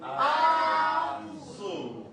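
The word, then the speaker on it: azụ: Azu. Again. Azu. When you want to pronounce fish, just remember a hill. It goes up and it comes down.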